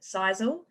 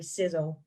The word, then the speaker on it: Sisel: success energy and longevity some people pronounce it sisal I guess it could you know it looks like it's pronounced that way but it's actually sizzle so if this company